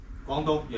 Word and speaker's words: Guangdong: Is that how you pronounce the place? Guangdong? Guangdong, yeah. Guangdong. I gotta practice.